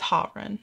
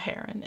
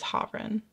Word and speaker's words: Haerun: I think somebody told me it's Kanghyun, and it is Haerun, not Haerun. It is Haerun.